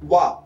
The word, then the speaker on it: は: For those of you who read hiragana, remember, although this isHa, it is pronounced wa. This is the origin of the word. This is the topic marker, wa, which is written with ha.